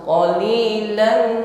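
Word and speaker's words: قَلِيلًا: Namun ketika pengucapan qaf ya, tekanannya lebih kuat daripada ka. Walaupun kaf dan qaf ini makhrajnya berdekatan ya, namun sedikit bedakan.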